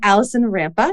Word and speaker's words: Alison Rampa: chose it did great okay thank you and Allison rampa did I pronounce that correctly Allison absolutely did yeah perfect